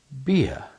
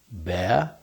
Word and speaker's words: beer: E R, I say beer. Can you hear the difference? Bear. Beer. Well, a lot of people don't actually say beer. They say something that sounds like this. They say, "Have a bear."